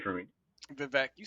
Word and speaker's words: Vivek: Vivek, you said it.